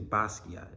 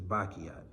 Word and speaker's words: Basquiat: would definitely say him people always get his name wrong they say Basquiat is bakiat he's Haitian too um